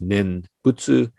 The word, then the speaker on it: nembutsu: chinese characters for nembutsu in japanese we pronounce this nen butsu in chinese it might